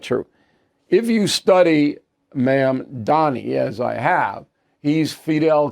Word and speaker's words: Mamdani: Zohran, let me say his name correctly, please, Mamdani. A communist, okay? Now, he is a communist, and look, you can say I'm exaggerating or I'm doing stuff politically, but it's not true. If you study Mamdani, as I have, he's Fidel Castro light.